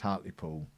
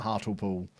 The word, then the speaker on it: Hartlepool: Or as I used to say as a child, before I was corrected, Hartlepool. Because to me, that's obviously how it's pronounced. Because that's how you pronounce that combination of letters. But apparently it's not Hartlepool, which I've never really